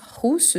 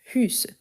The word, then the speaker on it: russe: Ici, j'attire votre attention car si on prononce russe, c'est la personne qui a deux chevaux orange, rouge. Donc, ici, il faut faire le bec russe.